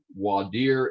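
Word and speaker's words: voir dire: those people out and that is called the vor dyer wadir is the correct pronunciation it's rarely used in texas you're going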